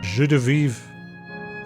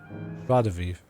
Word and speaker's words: joie de vivre: She's so full of jus de vivre. I don't think I pronounced that right. Joie de vivre.